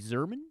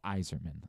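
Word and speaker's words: Yzerman: Stevie Zerman. Oh, no. Iserman.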